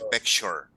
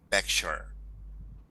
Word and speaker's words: picture: el caso de pintura como termina en toure se pronuncia short Ok es decir que se pronuncia picture picture esto se pronuncia n